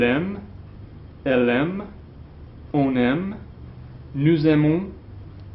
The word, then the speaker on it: nous: I told you when I taught you those pronouns not to pronounce the S, okay? It's nous, vous, il, elle.